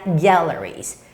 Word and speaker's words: galleries: When you're saying this word, the stress comes on the first syllable, galleries.